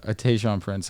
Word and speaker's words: Tayshaun Prince: If you hit me with like a Tayshaun Prince, I'm gonna be angry.